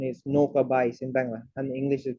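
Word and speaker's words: নৌকা বাইচ: So today I'm going to share with you about boat race, and the Bangla pronunciation is Noka Bais in Bangla, and English is boat race.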